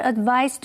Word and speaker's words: advise: 这篇文章第一个重点，我们看 advise 这个动词。advise 是指建议或者是给出意见。至于这里的字尾的 se 是发 z 的音，念成 advise。例如 Marian's father advised her to pursue a career in writing.